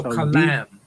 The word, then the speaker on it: kalam: Kalam. Kalam. No. Kalam. Kalam. K A L A M. If you put it in the transliteration. Kalam.